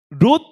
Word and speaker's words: 롯: 롯? 룻도 있고 롯도 있어요. 자, 간략하게 설명을 드릴게요, 여러분. 자, 롯은 누구냐? 롯, 오 발음.